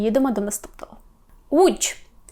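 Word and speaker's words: Łódź: принципі Човник човен уч що ми тут маємо важкого маємо в звук у до вимови так пам'ятаємо що в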